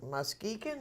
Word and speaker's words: Muskegon: Muskegon? Is that how it's pronounced?